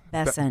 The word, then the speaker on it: Bessent: Bessant. What's think of the name like a Bess Bessant? Bessent.